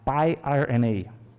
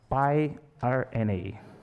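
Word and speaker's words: piRNA: you know i think the pronunciation in english is pi rna is a pi rna pi r n a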